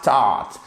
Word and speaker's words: taught: Là, c'est facile, ça se prononce comme un A long. He had taught. Alors, c'est pas taught, c'est pas un A à la française, hein, c'est entre le A et le O.